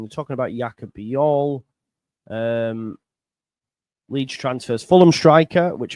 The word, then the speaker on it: Jaka Bijol: I'm excited by the signing of Jaka Bijol. And I saw from your... Am I saying it right, first and foremost? Yeah. Jaka Bijol.